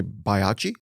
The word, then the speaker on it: Baiocchi: Most people say Baiocchi. Baiocchi, that's what I would have said. Yeah, that's the most traditional, although I get all sorts of like wild pronunciations.